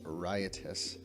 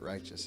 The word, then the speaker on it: riotous: It has that riotous beating, and I want to go on record as saying it is pronounced riotous. Everyone keeps pronouncing it righteous, and it just really irks me.